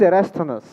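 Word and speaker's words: Eratosthenes: the Earth who era his name is erasthanus erased on us there is something longer but that's what it's pronounced as ok so what he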